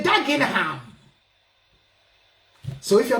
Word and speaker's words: Dagenham: They're going to say Dagenham.